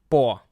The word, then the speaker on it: по: So the thing is, in Russian language, every time when we have O vowel, this O vowel will be pronounced with the stress like O, but without the stress will be pronounced as A.